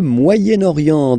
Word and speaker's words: Moyen-Orient: So it's interesting here because normally if you would have only this word here, you would pronounce it moyen, moyen, okay? But then as you've got this vowel after, okay, you get to make the liaison between the two, le Moyen-Orient, Moyen-Orient, okay?